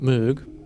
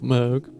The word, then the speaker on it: Moog: very open of like uh most people will pronounce it Moog uh but he was brought up with MOG but then obviously if you're dark more more